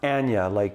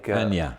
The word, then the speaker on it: Anya: It's Anya, Anya. Like Tanya without the T.